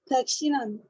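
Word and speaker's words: दक्षिणम्: अशिष्टान्नम में श जो है उसमें था प्रॉब्लम, और दक्षिणम में ण में प्रॉब्लम था, बाकी सब ठीक है। दक्षिणम, दक्षिणम, ण, न नहीं है, वो ण है।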